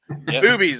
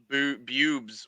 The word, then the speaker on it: Boobies: Because I have Boobies. Okay. Yep. Boobies. Because I've always I've heard about it, and I always thought it was Bubes or something, and I was like, it can't be.